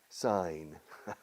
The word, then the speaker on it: sign: Sign. To sign. Me río. I'm laughing because el verbo es to sign. Firmar. Okay, con G muda, penúltima letra. Sign. G super muda.